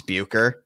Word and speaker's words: Bucher: I don't know if many people are familiar with Rick Boucher or Boucher. I don't really know how it's Bucher. There you go. That's how you pronounce it.